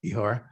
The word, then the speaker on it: Ihor: Dyakuyu to you, Ihor, if I pronounced that correctly. Yes, you actually got my name perfectly.